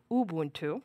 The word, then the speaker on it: Ubuntu: you're in Ubuntu sorry I should correct it because otherwise God has someone will call me Ubuntu that's the correct pronunciation um it will notice